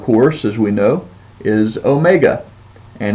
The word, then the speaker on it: omega: as we know is Omega and it just has the long o sound as in tone and so Omega now if you're looking